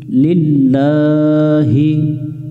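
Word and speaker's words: لِلَّهِ: আমরা এক লেখা দেখে এক আলিফের টান দিব লিল্লাহি লিল্লাহি লিল্লাহি ওয়া মিলবে সদের সাথে ওয়াস লা বারবার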